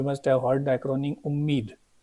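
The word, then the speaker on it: UMEED: have heard the Acron umid so the W is silent but if you see u m e e d umed Act so we can also call this amendment as the umid that the updated name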